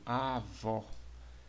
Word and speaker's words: avó: então nós temos aqui um exemplo avó Observe que vó é a sílaba mais forte né sílaba tônica e Aqui nós temos